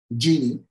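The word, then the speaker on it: Djinni: a an HR platform this called Genie just by coincidence but it's spelled D G I double n i that's going to be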